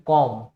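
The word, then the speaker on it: comb: पे साइलेंट रहता है, तो इसमें कॉम, कम, थम, ये बी नहीं बोला जाएगा, इसमें भी ये बी नहीं बोला जाएगा, यहाँ पे भी नहीं।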